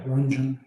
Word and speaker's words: Ranjan: Yeah, Ranjan. It rhymes with dungeon, Rupal.